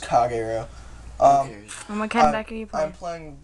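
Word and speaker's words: Kagero: you want I'm Prett it's pronounced kago um are you I'm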